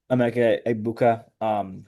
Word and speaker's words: Emeka Egbuka: This year, he has the new guy from Ohio State, Emeka Egbuka, who is just popping you off.